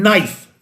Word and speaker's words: knife: In knife, there's one silent K.